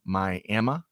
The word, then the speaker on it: Miami: we got Jacqueline tuned in Via LinkedIn from my Emma as Bobby Bowden used to pronounce Miami Florida uh of course as the natives of of Miami say Miami okay A Different Strokes different folks